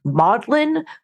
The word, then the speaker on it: Magdalene: my husband went to one called modlin it's spelled Magdalene but it said modlin it's very frustrating Samuel